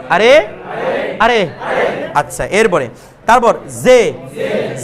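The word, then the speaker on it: ژ: এটার মধ্যে জে এবং শিন এটা বাতাস লাগবে, জে, এই সে না, জে। অনেকে কি উচ্চারণ করবে? জে, অনেকে বলবে জে, জে নয় এটা, অনেকে বলবে সে, সেও না, জে।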